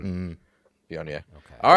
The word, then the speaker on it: Viognier: So I'm going to say a word, and then Colin's going to pronounce it correctly. Viognier. Viognier. See, Viognier.